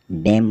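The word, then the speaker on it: damn: column column मतलब स्तंभ डी ए एम एन डेम मतलब बददुआ देना एस ओ एल ई एम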